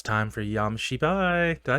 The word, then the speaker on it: Shibai: It's time for Shibai.